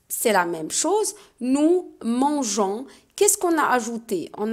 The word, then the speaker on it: mangeons: haut et le g parce que si on n'a pas ajouté le on va prononcer mangue ans alors que c'est non on va ajouter les oeufs pour dire nous mangeons d'accord dans la prononciation